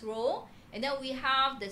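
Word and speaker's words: rho: for row is actually it's not p is a Greek symbol okay we pronounce as row and then we have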